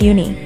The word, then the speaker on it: uni: or in a mush uni, pronounced oo-nee, are actually urchin roe.